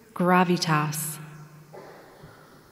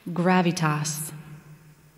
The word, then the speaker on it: gravitas: The word is gravitas. Can you repeat the word? Gravitas.